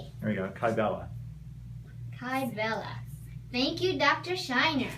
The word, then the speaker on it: Kybella: Hold on, they just asked, how do you spell Kybella?